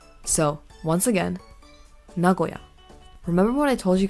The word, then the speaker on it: Nagoya: three are all elongated the Nagoya is not elongated you just say it normally so once again Nagoya remember what I told